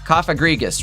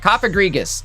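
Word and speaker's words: Cofagrigus: Kafa Kafagriggas, right? Copaggus, I think it's pronounced.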